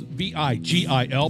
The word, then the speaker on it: Vigil: And we're talking to a gentleman by the name of Greg Vigil. Now, the spelling of his last name is V-I-G-I-L, but it's pronounced Vigil.